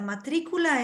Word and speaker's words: matrícula: We have to pronounce the word matrícula, está a little bit stronger in the I.